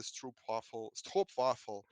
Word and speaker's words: Stroopwafel: one fellow MVP saying that Armando is the Stroopwafel.